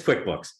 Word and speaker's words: QuickBooks: name like I thought right rhymes with Mick books opposite of uh of slow periodicals is that close so yeah it's QuickBooks it's accounting software like